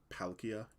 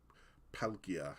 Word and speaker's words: Palkia: be wondering like why Palkia is called that like Palkia it doesn't really sound like a pearl and uh that's because of Japanese pronunciation not Pearl not not